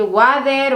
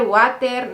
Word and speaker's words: water: steven y yo realmente no podía decir la palabra water solía decir uader water no sé qué decía hasta que tienen me lo hizo saber y la verdad